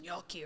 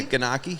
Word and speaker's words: gnocchi: me hate it and they can't pronounce it right like yeah yeah ganaki so that's what I'm